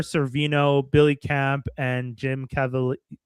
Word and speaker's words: Caviezel: Mira Sorvino, Billy Camp, and Jim Caviezel. How do you pronounce his last name? Caviezel?